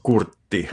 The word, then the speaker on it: Kurtti: I've been in contact with our dear friend Jim Kurtti, or Kurtti, as I would pronounce that in Finnish, so they will be my first gig, which is very exciting.